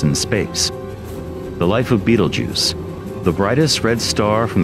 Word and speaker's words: Betelgeuse: used by the way the pronunciation of Beetlejuice in English corresponds to the name of one of the main characters of the movie Beetlejuice this as well as